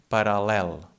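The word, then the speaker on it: paral·lel: For example, in the word parallel. In this case, this doesn't change the sound. It's just like a normal L.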